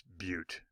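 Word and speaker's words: butte: at you funny it's but rhymes with cute and it's cute because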